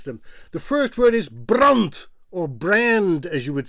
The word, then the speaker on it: brand: But the word brand in Dutch is pronounced as brunt.